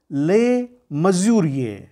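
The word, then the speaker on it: Le Mesurier: सबसे पहले 1856 में एक रेलवे इंजीनियर ले मजूरिये, स्पेलिंग या फ्रेंच नाम है LEMESURIER, लेकिन इसका उच्चारण होता है ले मजूरिये।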